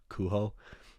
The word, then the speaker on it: Kujo: The two movies we saw on Saturday were Little Death and I think it's pronounced Cujo. It's spelled Kujo, but it's a Spanish film, and everybody in the film said Cujo.